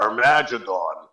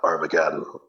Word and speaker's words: Armageddon: said ladies and gentlemen we are our magidon because nobody looked up the spelling or the pronunciation of the spelling it was a guitar player that found it and the priest walks up and goes uh that's uh armageddon but that was my